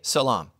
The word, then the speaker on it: salaam: to greet each other it's pronounced differently but it's spelled identically Jews say shalom Muslims say Salaam same word same word